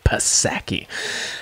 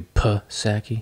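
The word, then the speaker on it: Psaki: it's they say right they say the p is silent but i'm gonna say that p p yeah uh that's like an insult for a dude you pa sacky little pussaki uh have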